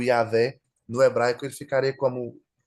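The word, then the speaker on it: Yahweh: E aí ele fala sobre Yahé, né, nesse vocal e inclusive ele fala que a pronúncia do J não existe, então o correto seria Yahvé.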